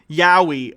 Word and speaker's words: Yaoi: It's Y-A-O-I. Yowie.